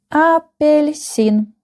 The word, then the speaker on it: Апельсин: The last syllable is stressed. Апельсин. Апельсин. Апельсин. I want to pay your attention to this letter. This is soft sign. And do you remember the function of this soft sign? Of course, I know you remember. It makes the previous letter soft. So we have L.